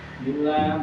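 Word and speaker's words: بالله: Sebelum lafaz jalalah adalah kas kas. Contohnya apa? Bil billah. Bismillahillah. Lillah. Inn lillahi wa inna ilaihiun. Inna lillahi. Nah, itu adalah lamnya ti tipis.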